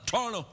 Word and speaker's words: Toronto: even call it Toronto I pronounce it like locals say Toronto I call it torto hey we're in Toronto